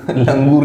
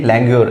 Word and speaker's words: languor: The next word is लैंग्योर, LANGUOR, लैंग्योर means tiredness, लंगूर, लंगूर नहीं है ये, लैंग्योर है, इसका मतलब होता है टायर्डनेस।